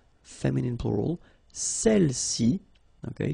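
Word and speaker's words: celles: all right feminine plural celi okay don't pronounce the final s celi s all right so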